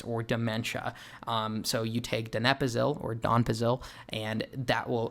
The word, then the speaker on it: donepezil: Donepezil, I initially for the longest time pronounced it donepezil, and by the longest time I literally mean like an hour ago before I looked up the pronunciation when recording this video.